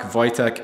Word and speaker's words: Wojtek: video one other thing regarding the gas block Wojtek is in fact the correct pronunciation for that part flight tech the soldier